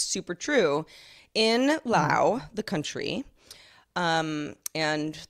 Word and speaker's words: Laos: it's super true in lao the country um and that is how it's pronounced but people say laos also fine but you know whatever